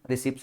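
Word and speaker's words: receipt: रिसीप्ट ऐसे I before I before E but silent P रिसीप्ट्स nothing.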